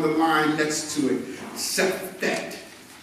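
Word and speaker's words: Sefekht: Sefet. Sefet. It's pronounced, spelled S-E-F-E-K-H-T.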